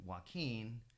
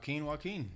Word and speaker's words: Joaquin: My name is spelled Joaquin, but I spelled it in a way people could pronounce it correctly. So WUAKEEN, and it just stuck. It's very unique. Yeah, it's stuck since then. Yeah. Joaquin.